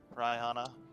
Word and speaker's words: Rihanna: I do It's Rihanna. Raihana. Right. Rihanna. I do it like the singer.